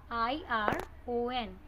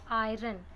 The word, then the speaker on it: iron: Iron. Iron is incorrect pronunciation of this word. This is not iron. R is silent here.